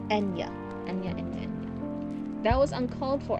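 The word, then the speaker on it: Eithne: Ethne? Ethne? By the way, before you have a stroke, her name is pronounced... Oh, Enya? Oh, Enya.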